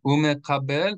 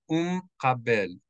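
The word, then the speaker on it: ומקבל: So instead of umekabel, it would just be umkabel, umkabel, umkabel.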